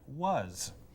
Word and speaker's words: was: The box is your clue that the word is pronounced slightly differently from the other words in its spelling family. Thus you have as, has, and was.